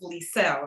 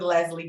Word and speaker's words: Leisel: i know it's different so my name is pronounced lisel right so agents will call the team members for listing agents and be like yeah i've done business with liesl or i've done business with leslie before so they already knew